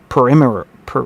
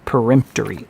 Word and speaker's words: peremptory: The words of this article are perimeter per god dang it. I need I need a pronunciation out. Perempter. Peremptory. Peremptory. And now I lost my place because I did that.